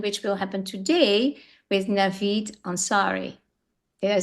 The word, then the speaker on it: Navid Ansari: And it gives us a very powerful impression, which will happen today with Navid Ansari.